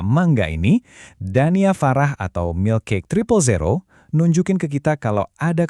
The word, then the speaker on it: Milkcake000: Dibacanya Milk Cake Triple Zero.